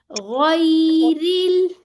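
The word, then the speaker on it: غَيْرِ: ये मोटा सा होता है, तो इसको कैसे, गई गई नहीं करना, बल्कि कैसे करना है, गई गई, ठीक है, गैरिल।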